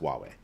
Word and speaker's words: Huawei: H u a wii, I think, is how they spell it. Huawei. It's pronounced Huawei, but I've never heard of Hulaway.